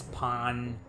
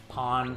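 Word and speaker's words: Pahn: Pawn. How is it pronounced? I think it's pawn.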